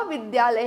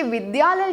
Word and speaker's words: विद्यालय: फर्क इतना होगा कि विद्यालय जब हम बोलते हैं तो ये द इस तरह से लिखा जाना चाहिए, जिसमें आधा द है, य है और अ। तो बोलने वक्त जो उच्चारण है वो होना चाहिए dy ए, द्य। बहुत से लोग इसे मिसप्रोनाउंस करते हैं और विद्यालय कहते हैं, जो कि गलत है।